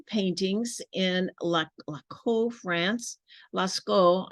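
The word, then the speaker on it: Lascaux: in La laco France Lasco I think that maybe how you say it Lasco France representing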